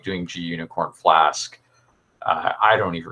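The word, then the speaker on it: gunicorn: login contacts nice thanks i always pronounce that gunnacorn i have no no idea i've never actually used it it's g unicorn i i so i it's supposed to be like the ruby unicorn project right and then they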